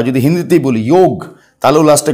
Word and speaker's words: যোগ: আর যেহেতু ইংরেজরা অ উচ্চারণ করতে পারে না, অকে আ উচ্চারণ করে, সেই জন্য ওটাকে ওরা বলে দিয়েছে যোগা।